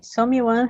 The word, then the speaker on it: someone: Okay, someone has spilled ink in on this rug and has burned a hole in on that one.